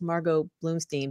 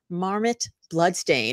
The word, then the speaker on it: Margot Bloomstein: And Margot said that when her name is mispronounced, it's mispronounced not as Margot Bloomstein, but as Marmot Bloodstain.